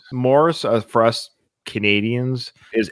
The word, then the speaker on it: Maurice: the wel just so you know Nathan it's Morris that's how it's pronounced Morris for us Canadians is m o r r i s but his name is spelled m a u r i c e oh we would say Maurice sometimes we'll record